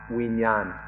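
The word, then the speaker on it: วิญญาณ: The Pali word is vijnana, or in Thai it's pronounced vinyan, and it's given different meanings by different people.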